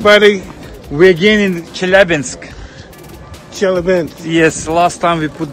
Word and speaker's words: Chelyabinsk: Chelyabinsk.